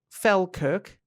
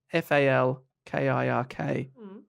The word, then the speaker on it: Falkirk: the Glasgow around Edinburgh I said fell Kirk FAL ki RK Falkirk okay okay I'm